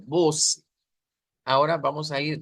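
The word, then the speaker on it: você: Entonces no decimos voce, sino que debe ser voce, voce, que se escuche esta con fuerza, voce. Ahora vamos a ir voce by.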